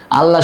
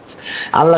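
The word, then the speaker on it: الله: আল্লাহ শব্দের লাম পড়ার বিবরণ দেখেন। আল্লাহ শব্দের লাম 2 ভাবে পড়তে হয়, এক পুর বা মোটা করে, বারিক বা পাতলা করে।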